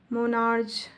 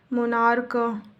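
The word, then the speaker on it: monarch: मोनार्च, मोनार्क, मोनार्क, मोनार्क्स।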